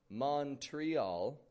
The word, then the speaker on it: Montreal: And when you catch that plane to Montreal, don't give it a Montreal or a Montreal, but a Montreal. O becomes a U, and TR becomes a CHR, kind of CHR sound in pronunciation.